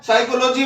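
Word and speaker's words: psychology: इसी प्रकार जो है साइकोलॉजी में जो है पी साइलेंट होता है और इसी प्रकार केमिस्ट्री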